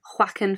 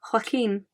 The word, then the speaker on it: Joaquin: from science and I have always called him Joaquin Phoenix I was watching an interview the other day and it's actually pronounced or this this person pronounced it Hakeem Joaquin Phoenix what sounds so much better than